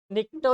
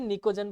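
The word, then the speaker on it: pnictogen: है क बोलते हैं निकटो नहीं बोलते उसे निकोजन बोलते साइलेंट होता है वैसे निकोजन बोलते हैं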